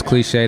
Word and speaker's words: Clixae: yo what it do y'all my name is cliche that's spelled c-l-i-x-a-e um I'm everywhere I'm literally everywhere